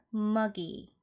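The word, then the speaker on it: muggy: 때 표현하는 단어들이 있는데 M GY이 단어는 보시면 은 므 소리 나고 유는 어 어 발음 나죠 그리고 GG 같이 오면 한 번만 소리 나면 돼요 자음이 두 개가 겹쳐서 올 때는 한 번만 소리 내세요 그래서 그그 그리고는이 발음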